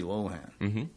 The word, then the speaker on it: Lohan: him here with Lindsay Lohan loan or how you say Lohan Lohan Lan how did you say Lohan okay like low man on Deck you know